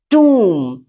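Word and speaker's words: tomb: ऐसी कंडीशन पे इसे बी नहीं पढ़ते साइलेंट होता है इसे पढ़ते हैं टू टू का मतलब होता है कब्र इसे टू पढ़ते हैं और भी एग्जांपल है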